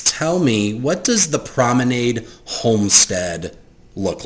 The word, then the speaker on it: Prominade: The Promenade or Promenade, how do you pronounce their last name? Promenade. Promenade. The Promenade family is preparing for another dinner party.